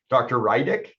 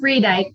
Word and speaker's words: Reedike: Rydick. I think I'm saying that correctly, am I? It's Reedike, but that's okay.